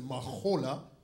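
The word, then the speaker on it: מחולה: OK, mais prononcer ça, c'est un H guttural. Donc, on ne pas prononcer le H, ou prononcer le H. OK, Mahola praise.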